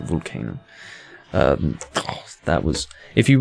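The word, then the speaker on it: Vulcano: can't whatever that 1987 album by vulcan volcano i think yeah that's how you pronounce it volcano um that was if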